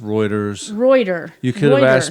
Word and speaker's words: Reuters: to it so I'm never saying it right routers rooters it's it's actually pronounced Reuters reuer you could have asked me before the